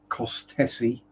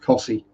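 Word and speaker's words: Costessey: pronounce well four letters you don't pronounce in cost tessi it's pronounced Cy but yeah that's just Norfolk for you uh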